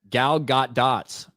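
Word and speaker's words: Gal Gadot: Her name is pronounced gal got dots.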